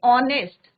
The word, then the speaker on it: honest: Similarly, an honest. तो यहाँ पे भी H is silent.